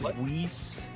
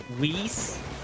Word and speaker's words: Whis: the other side uh if I'm not mistaken it's pronounced whis whis do you watch Dragon